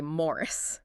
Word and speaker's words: Maurice: Stratton also adds that little detail almost a side note about how folks in the south often pronounced Maurice. They'd say Morris.